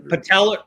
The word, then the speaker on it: patellar: Patellar.